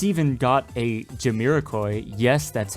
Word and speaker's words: Jamiroquai: It's even got a Jamiroquai, yes that's how it's said, song for the intro.